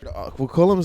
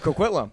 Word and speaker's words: Coquitlam: Coquitlam's like weird.